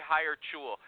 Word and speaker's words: Hiretual: I'd like you to expand on that after I do this ad for my good friends at HireTool. I say HireTool, they say HireTual.